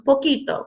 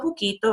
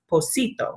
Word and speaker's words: poquito: So you might notice that poquito is spelled with a Q, and that's just to maintain the sound of the word. So if it was spelled P-O-C-I-T-O, it would actually be pronounced posito.